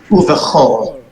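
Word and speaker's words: וּבְכָל: This is pronounced cha, chol, uvechol. Uvhal. Right. It's an exception.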